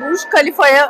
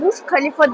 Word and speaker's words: Khalifa: Yan tarafımızda zaten Burj Khalifa var ve o yüzden gerçi Araplar Burj Khalifa demiyor da Burj Khalifa diyorlar. K-H diye telaffuz ediyorlar.